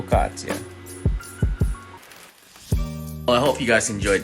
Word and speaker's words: focaccia: before I forget focaccia apparently I wasn't pronouncing it right it's pronounced for foh-cat-chia I hope you guys